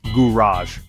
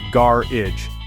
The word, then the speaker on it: garage: that's Up For Debate Americans pronounce garage as gurage with a smooth French inspired ending Brits on the other hand say garage making it sound like a completely different word the American version flows